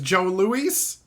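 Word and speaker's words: Jos Louis: more things to try I got Jos Lewis otherwise known as Joe Louise it's weird but that's just how it works that's how it's pronounced my dad ate these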